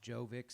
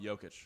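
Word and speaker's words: Jokić: The only reason why I bring this up is because I watched Jovic's. Is that how you say it? Mm. Jovic? Oh, Jokic.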